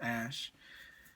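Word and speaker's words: Æ: it's ash something a12 that x and ae is pronounced ash a12 that sold for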